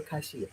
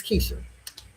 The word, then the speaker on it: Keisha: Is it Keisha or Kaishia? It's Keisha.